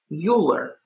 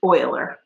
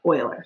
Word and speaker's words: Euler: I grew up thinking it was called Euler, and it's so not. It's Euler, okay? Like O-I-L-E-R, Euler. So hopefully your math teachers are better than mine. But Leonard Euler was a Swiss mathematician.